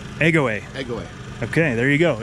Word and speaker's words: Egoe: your space wisely so how do you pronounce it egg away egg away okay there you go